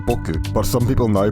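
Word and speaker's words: 僕: It is generally pronounced boku, but some people now pronounce it boku.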